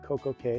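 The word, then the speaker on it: CocoCay: Well, first, in the Perfect Day song that Royal Caribbean plays, it's pronounced Coco Cay. It rhymes with day. It makes sense. Perfect Day, Coco Cay.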